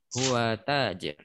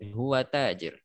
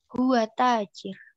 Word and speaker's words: هو تاجر: seharusnya tidak dipanjangkan malah dipanjangkan sehingga sebagian orang bacanya huwa tajir yang seperti itu tidak benar ya kurang pas yang seperti itu harus dipaskan panjang pendek dan makhrajnya huwa tajir huwa tajir ya kata seperti itu.